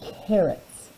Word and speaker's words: carrot: we have carrots take carrots notice that the see on carrot makes the hard C sound carrot but up here